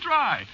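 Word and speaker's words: Drei: yeah but of course that ain't the way you spell it see what no you see it's a German name is it yeah sure spelled D re I it means three you know no no more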